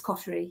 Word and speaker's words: Coterie: So yeah, we tend to say cotery in this country, but yeah, it's derives from a French word, so it's coty.